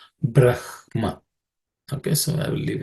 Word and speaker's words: Brahma: rather simple just to some people pronounce Brahma as Braha also uh I will not get into it its uh area where people can have different views uh many many Orthodox people would say Braha but the the correct pronunciation brah Brahma but Brahma is also accepted so I will not uh but the correct pronunciation from what I understand and what I believe is Brahma okay so I will